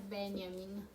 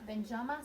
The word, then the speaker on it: Benjamin: la préface que Walter Benjamin alors je cuueille l'occasion pour vous dire une chose là il faut prononcer à l'allemande hein c'est pas Benjamin c'est Benjamin d'accord c'est pas une faute